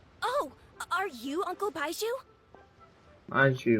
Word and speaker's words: Baizhu: Baizhu, that's how you say his name.